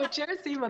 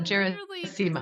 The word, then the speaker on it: Gerasimo: Today's guest is Gerasimo, correct? Did I get it wrong again? Yeah. No, Gerasimo, that's right. I always tell people it's like Seymour, but with a Gera on the front. So Gerasimo.